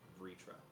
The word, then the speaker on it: Vritra: Ritra or Vitra? Vrtra. Vritra. That's how it's pronounced.